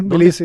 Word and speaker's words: Tbilisi: Además de participar en las Bienales de Chile, 2019, Tbilisi, ¿está bien pronunciado? Sí, Tbilisi.